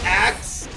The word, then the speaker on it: AKZ: It is pronounced axe.